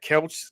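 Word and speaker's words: Kelce: is uh Travis I don't know how to pronounce that couch Kelsey Kelsey Kelsey right Kelsey right so Travis Kelsey right so Travis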